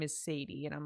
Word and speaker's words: Sadie: Can Chronicles child, whenever those came out, I pronounced her name as Saddie for the entire time I read it. And then my dad was like, "No, that name is Sadie."